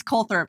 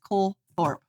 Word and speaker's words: Colthorp: And it's Cole Thorp. C O L T H O R P E. It's pronounced Cole Thorp.